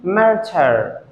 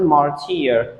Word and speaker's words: murder: wrongly this is murder the confusing part of pronunciation of this word is why before or at the end many students pronounce it martyr that is a wrong pronunciation because why is pronounced as schwa the next word that